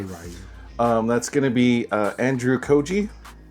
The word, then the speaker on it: Ryu: Okay, so for Ryu or Ryu, depending on how you pronounce it. I say Ryu.